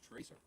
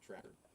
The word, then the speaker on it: Tracer: So if you mispronounce this, the internet will hate you for forever. All right. Toting twin pulse pistols, energy-based time bombs, and rapid fire banter. This is Tracer. Yeah. It's not Tracker. Nope.